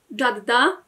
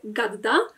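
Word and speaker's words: جدة: Jadda, babcia, w dialekcie egipskim to będzie gadda. Kolejną różnicą w wymowie jest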